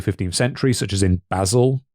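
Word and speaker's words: Basel: in the early 15th century such as in Basil. B A S E L. Is that how it's actually pronounced? The city? Yeah, Basil.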